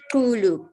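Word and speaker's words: Xulu: Please pronounce that for me correctly. Kulu.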